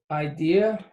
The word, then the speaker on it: idea: Idea is how you say it. Idea. Really? All right. Unas. The vowels are always the same, so it's always that A, E, O, U. So idea, the I is pronounced E in Spanish.